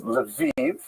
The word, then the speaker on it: Lviv: Like, for example, if you take this town here, which is written in this map as Lviv, that's the Ukrainian pronunciation because this is a map of Ukraine.